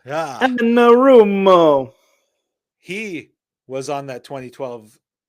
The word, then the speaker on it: Anarumo: I can never pronounce that name. Anarumo. Yeah. Anarumo.